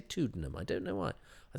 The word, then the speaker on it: Tuddenham: done it twice um I did mention Peter tanham and mispronounce his name why didn't I say tuddenham I don't know why